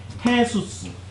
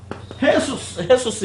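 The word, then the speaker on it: Jesús: 스페인어로는 헤수스. 스페인 발음으로 이걸 해 발음이 나요. 헤수스 이러고 가.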